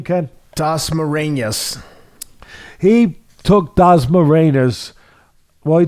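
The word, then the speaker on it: Dasmariñas: How do you pronounce his opponent's name, Ken? Dasmarinas.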